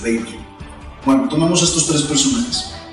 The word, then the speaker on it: Weber: La pronunciación correcta, de hecho, es Weber.